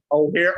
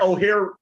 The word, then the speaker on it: O'Hare: I'm just uh yeah I'm I'm up by O'Hare um sugar I don't know how you pronounce hair oh here oh here that's the airport so I'm still not trying